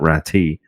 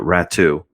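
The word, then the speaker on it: Räty: talk about atu rattu that's how it's pronounced by the way atu ratsu not ratty uh but rat two uh he leads the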